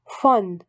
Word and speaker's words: von: La prononciation de V est W. Le V allemand ne correspond presque jamais au V français, mais au F de famille. Von, de.